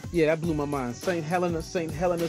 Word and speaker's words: St. Helena: St. Helena, say it correctly.